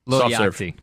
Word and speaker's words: Lil Yachty: Like the board game? Yahtzee? Low Yachty? Lil, L-I-L. Oh, Lil. Lil. Yeah. Yachty. Oh, Little Yachty.